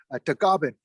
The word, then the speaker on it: Tagaban: My last name is Tagaban. In the Philippines, it's pronounced as Tagaban.